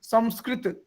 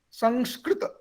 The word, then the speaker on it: Sanskrit: sanskrit someone is saying samskrit someone is saying samskrut so these are different pronunciations but when you will see that will be sanskrit because this is quite